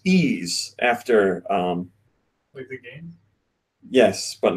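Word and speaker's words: Yves: this question it's from I believe this is pronounced ease after yes but not spelled that way after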